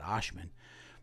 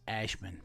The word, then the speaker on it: Ashman: I said Oshman, but I think it's Ashman.